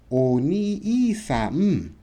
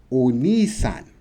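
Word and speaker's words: お兄さん: Oni-i-sa-m. But to say it correctly, Oni-san. Oni-san. See, not saying the E. The E, you're already saying the E when you say ni. Does it make sense?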